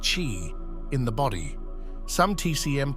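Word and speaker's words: qi: of vital energy or QE pronounced chi in the body some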